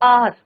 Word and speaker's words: hour: कई बार होता है बच्चों, जैसे आर, HOUR, आर. अब हमारे क्या हो रहा है बच्चों? यहाँ पे H इज योर साइलेंट.